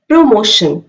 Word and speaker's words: promotion: PR पे थोड़ा stress देना है और ज्यादा stress is ऑन मोशन. Promotion.